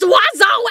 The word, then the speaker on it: oiseau: No letter is pronounced the way it should. And there are 7 of them. It's pronounced oiseau, and yes, I will die mad about it!